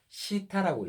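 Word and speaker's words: θ: 영어에서 이거 뜨 발음 나잖아요. 그죠? 요거는 헬라어에서 시타라고 읽어요.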